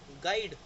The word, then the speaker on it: guide: अब जैसे गाइड है, गाइड में जो यू है वो जी के बाद आ रहा है लेकिन एक वोवल से पहले आ रहा है, इसीलिए जो यू है वो प्रोनाउंस नहीं हुआ। हम इसको गाइड तो नहीं